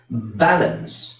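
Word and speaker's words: balance: ಈ ತರ ಹೇಳಬೇಕು ಇದು ಬ್ಯಾಲೆನ್ಸ್ ಬ್ಯಾಲೆನ್ಸ್ ಸೋ ಇಲ್ಲಿ ನಾನುಬಿ ನ ಮಾತ್ರ ಒತ್ತುತಾ ಇದೀನಿ ಎಲ್ ನ ಅನ್ನ ಒತ್ತುತಾ ಇಲ್ಲ ಹಾಗಾಗಿ ಎಲ್ ಪಕ್ಕದಲ್ಲಿರೋ ಎ ನ ನಾನು ಅಂತ ಹೇಳ್ತಾ ಇದೀನಿ ಬ್ಯಾಲೆನ್ಸ್ ಬ್ಯಾಲೆನ್ಸ್ ಅಲ್ಲ ಬ್ಯಾಲೆನ್ಸ್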